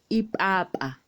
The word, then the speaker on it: ipapa: Next is letter P, which we pronounce with a pop. Ipapa.